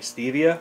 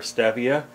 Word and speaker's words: stevia: Today I'm going to show you how I germinate stevia, or stevia, pronounced either way.